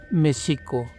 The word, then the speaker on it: México: De esta manera, juntas las sílabas se pronunciarían mexico.